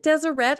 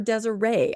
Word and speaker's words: Deseret: how do you pronounce is it Deseret or Desiree I have heard it both ways I've always heard it deset growing up here yeah